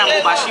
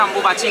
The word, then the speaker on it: अम्बुबाची: अम्बुबाची बोला जाए, अम्बुबाशी बोला जाए लोकल लैंग्वेज में, असमीज भाषा में। तो अम्बुबाची होता है, जिसका प्रोनाउंसिएशन अम्बुबाची करते हैं।